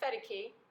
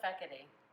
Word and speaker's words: Fekete: And I am here with Fedeke. Or Fekete. And nobody can say my name. I've been saying it wrong the whole time.